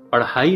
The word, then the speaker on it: پڑھائی: میں بھی ڑے ہے، اور پڑھائی کا تلفظ پڑھائی نہیں کرنا چاہیے، اس کا درست تلفظ ہے پڑھائی۔ اساتذہ کرام سے یہ